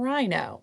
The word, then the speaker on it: rhino: we go I Rhino that H is silent and rhino and rhino is short for